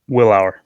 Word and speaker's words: Willour: Willour. I don't want to pronounce your last name incorrectly. Did I pronounce that correctly? Willour. You're good.